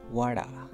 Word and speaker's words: water: Actually, this word is ending at T but starting with another syllable because there are 2 vowels between this T. So what we do, we convert this T into T sound, light D sound.